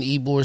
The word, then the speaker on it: Ybor: I was in Ybor City, walking through. It's spelled Ybor, but it's pronounced Ybor City.